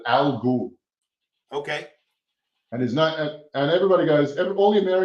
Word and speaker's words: Al Ghul: His name is spelled A-L-G-H-U-L.